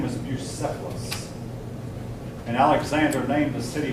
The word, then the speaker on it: Bucephalus: The C is pronounced like an S. Bucephalus. Bucephalus.